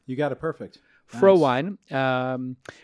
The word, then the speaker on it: Frohwein: about that today pro wine is with us did I pronounce it right you got it perfect fro wine which if you didn't know it's German did you know that